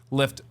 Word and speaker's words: Lyft: a better name than Lyft yeah it's like lift with a Y you know whereas Uber